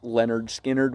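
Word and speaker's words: Lynyrd Skynyrd: It's pronounced Leonard Skinnerd, which is where you get, Simple Man and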